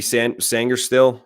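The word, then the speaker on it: Sainristil: You mentioned the safety, Mikey Sangerstill. Am I pronouncing that right?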